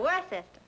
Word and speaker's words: Worcester: Well, Freddie calls it something else too, Doc. But it's spelled W-O-R-C-E-S-T-E-R. Worcester. Oh, yes, I see, yes.